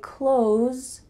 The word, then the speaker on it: clothes: Instead, when we speak in fast English, we often pronounce close a lot like close the door. I buy clothes through the internet.